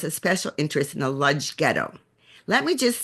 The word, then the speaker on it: Lodz: So they wrote it with a lamed, which is pronounced Lodz. And I've spoken to people from the Lodz Ghetto survivors, people who are descendants of Lodz Ghetto survivors, and they say that they said it with an L sound.